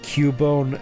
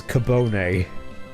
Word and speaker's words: Cubone: And my mom pronounced Cubone as Cabone.